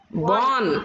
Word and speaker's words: born: Born. Ante R is silent. Born.